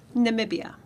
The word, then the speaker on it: Namibia: but they know and so that's can you pronounce it again Namibia Namibia Namibia or if you're real local it's